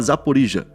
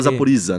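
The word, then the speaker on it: Запоріжжя: É igual quando a gente fala Zaporizhia. A gente não fala Zaporiza, né? Mas poderia falar Zaporiza.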